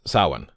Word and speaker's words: Samhain: So anyway, how to pronounce sah-win. Okay, so since I have a bit of following here on this blog, I thought it important to address the often mispronounced word sah-win.